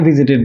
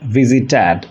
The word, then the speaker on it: visited: I said visited. In fact, it should be visited. Every time an English verb ends with TED, it should be pronounced as tid. For example, translated, visited, arrested.